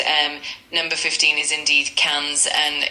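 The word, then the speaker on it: quinze: 15 is K's and it's spelled Q U I N Z E.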